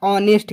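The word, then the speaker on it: honest: लेकिन आप इसके उच्चारण पे ध्यान दें, किस पे, उच्चारण। तो उच्चारण इसका क्या होगा, ऑनेस्ट। क्या होता है, ऑनेस्ट होता है बाबू।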